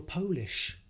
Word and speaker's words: Polish: So that is Poland is a country, and if you're from Poland, you're Polish, but also you can pronounce it as polish.